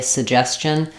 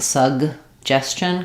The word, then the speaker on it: suggestion: up on suggest question can you drop the first G sound and just say suggestion um people do do that but I don't recommend it um it's not a very strong I'm not saying suggestion cuz it's unreleased s suggestion um but uh even